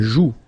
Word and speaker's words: joue: La joue. Final E not pronounced here.